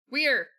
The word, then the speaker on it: Weir: Master Forester denounces where leader High Reach is where. Weir, it's Weir. Fuck. It's Weir. I am fighting against years in mispronunciation there.